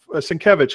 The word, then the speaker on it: Sienkiewicz: Claremont and Sienkiewicz have Sienkiewicz. Excuse me, I've said his name wrong for so long. I still have trouble.